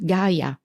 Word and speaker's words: Gaja: They don't even know how to pronunciate Gaia. It was Gaja. What's Gaja? What the hell is Gaja?